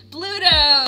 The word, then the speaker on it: Bluto: It rhymes with Pluto. It's going to be Barlight. Oh no, a monster mashup of Bluto.